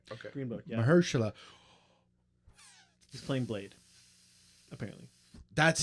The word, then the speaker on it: Mahershala: I think I don't know if I'm pronouncing his first name. No, right. it's Mahershala.